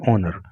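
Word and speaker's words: honour: The fourth highest civilian ऑनर। Civilian ऑनर का मतलब होता है नागरिक सम्मान। देखिए इसको होनर नहीं पढ़ते हैं, इसका जो प्रोनाउंसिएशन होता है वो ऑनर होता है, एच यहाँ पर साइलेंट रहता है।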